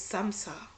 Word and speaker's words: samsa: number 10 okay is samsara it sounds like samosa but it's not and it looks like